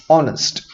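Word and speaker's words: honest: और जब हम ये प्रोनाउंस करते हैं तो ये एक तरह का वॉवल हमारे मुंह से बाहर निकलता है, भले यहां पे एच हो, तो हम इसे बोलते हैं ऑनेस्ट मैन।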